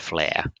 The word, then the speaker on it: flare: to find the word flare. FLARE, meaning to shine bright, and that sounds exactly the same as innate talent.